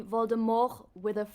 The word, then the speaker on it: Voldemort: Voldemort all over again apparently Voldemort's name is French so it's supposed to be Voldemort with a with a silent T at the actors that